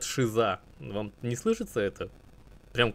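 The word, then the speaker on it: Caesar: обратил внимание это на их специфическое произношение слово Цезарь оно во всех языках конечно произносится по-разному но тут они прямо говорят шиза вам не слышится это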